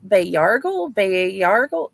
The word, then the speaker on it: Bayargle: Tell us about Bayargle. I am, however you pronounce his name, and his interesting powers of sucking the life force out of people. You're very close. So Bayargle is how I pronounce it.